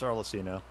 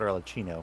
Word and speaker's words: Arlecchino: It's Arlecchino. That's what I said. No, you said Arlecchino.